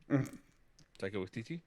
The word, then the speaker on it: Taika Waititi: Taika Waititi.